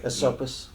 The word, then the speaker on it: Esopus: I'm going to mispronounce this, but Esopus, New York? Esopus.